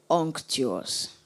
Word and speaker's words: unctuous: Unctuous. May I repeat the word, please? Unctuous. Am I pronouncing it right? Unctuous. Yes. Unctuous.